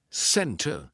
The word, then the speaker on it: center: Usually, if the T comes after an N, we drop that T and we do not pronounce it. Center, center. No, it's not center. It's almost like we're spelling it C-E-N-N-E-R. Center.